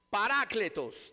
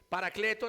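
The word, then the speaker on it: παράκλητος: Parácletos, también en el griego. Paracletos le decimos nosotros, pero el nombre original es Parácletos.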